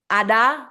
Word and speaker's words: Ada: Ada, that's how you pronounce it, is the name that my grandmother gave me.